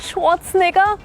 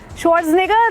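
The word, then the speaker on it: Schwarzenegger: Arnold स्वॉट स्नेगर। तभी तो देखेंगे। अगर बोल दिया शॉर्ट स्नेगर नहीं देखेंगे।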